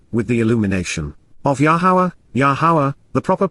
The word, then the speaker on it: Yahowah: light bar or with the illumination of yahwah yahawah the proper pronunciation of the name of yaha our eloa